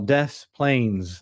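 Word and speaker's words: Des Plaines: America we have some towns that we call death Plains even though it was clearly French about three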